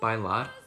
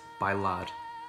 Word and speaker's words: bailar: In the second and fourth words, bailar and mar, at the end of the word you have the letter R, which we pronounce as R, which is the sound of the tongue flicking the roof of the mouth.